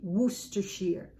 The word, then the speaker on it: Worcestershire: Worcester, Worcester, Shire. So that would be something like Worcestershire. And I know perfectly well that it's supposed to be Worcestershire. So basically 3 syllables, Worcestershire.